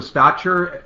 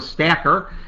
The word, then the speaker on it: Stacher: it works in their advantage this is stotcher am i pronouncing your last name right uh doctor hacker st okay hacker i apologize stacker uh but it's uh spelled s-t-a-c-h-e-r he's a